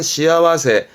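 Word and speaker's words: 幸せ: 여러분 암직한 것은 새가 나올 때 발음은 시아와세.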